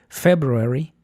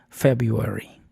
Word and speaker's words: February: En Estados Unidos conviven las dos pronunciaciones y son aceptadas. February y February.